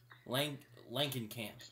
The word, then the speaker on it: Langenkamp: I'm gonna get her name wrong. Langenkamp.